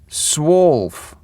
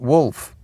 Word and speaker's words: SWOLF: The aw is um as in court. Swolf, not wolf.